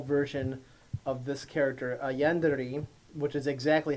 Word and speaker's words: yandere: A yandere, which is exactly how it's pronounced, is Japanese.